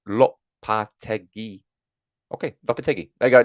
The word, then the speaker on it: Lopetegui: It's pronounced Lopetegui.